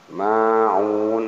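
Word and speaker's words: الماعون: Wayamna'u 2 harakat panjangnya, nal alif lam, ma'un ini ma alif panjang 2 harakat, un ini mad arid sukun.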